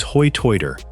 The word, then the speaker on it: Hoi Toider: The Ocracoke Brogue, known locally as Hoi Toider from the way islanders have historically pronounced high tide, is a dialect of English that exists nowhere else on Earth.